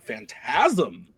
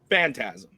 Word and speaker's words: Phantasm: Nick thought I was going to screw up on that one, but I mean, you got the inflection on the wrong syllable, but like you were yeah, but Phantasm.